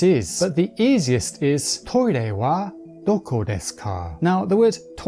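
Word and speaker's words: トイレ: but the easiest is toi ray wa doko desu ka? Now this word comes from toilet, but the pronunciation is more like TOY RAY.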